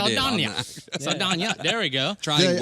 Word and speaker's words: Saldaña: After nailing it, almost butchered Saldaña.